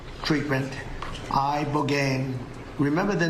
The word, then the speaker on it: ibogaine: injuries underwent, it's called ibogaine treatment. Ibogaine. Remember the name. Is that pronounced relatively properly, would you say? Yes. I don't want to get it wrong. Ibogaine. Body. Ibogaine. Rogaine with an ibo.